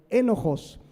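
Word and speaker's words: ἔνοχος: griega bien interesante porque es enojos como enojo Pero lleva acento en la enojos y significa que eres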